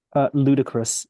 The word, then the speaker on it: ludicrous: Ludicrous. It's pronounced ludicrous.